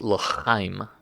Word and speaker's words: L'chaim: Phonetically, it is l'chaim.